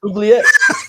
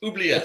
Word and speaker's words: oubliette: Oubliette. It's a French word. Oubliette. It sounds like a burp almost.